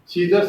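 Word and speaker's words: scissors: इसी तरह सीजर्स, सीजर्स में सी साइलेंट है।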